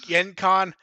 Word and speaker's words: Gen Con: you can tell you're not from the Midwest when you pronounce it GenCon, not I Gen don't Con.